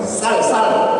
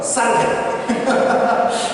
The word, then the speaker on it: 쌀: 그만 야 무슨 살말이고 그러면서 쌀 해봐 하면서 쌀 그래서 제가 이 살에 대한 노이로제가 좀 있어서 이 살 발음은 할 때마다 제가 좀 힘을 줍니다. 쌀 그래서 이제 이 살이 있는데 또 살이 나거든요.